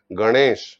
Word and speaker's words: গণেশ: বা চেষ্টা করেন না যেমন গণেশ বলেন গ দন্তন্য নয় মর্ধন্য তা উচ্চারণ হবে গণেশ উচ্চারণে মধ্য আসবে পূর্ণ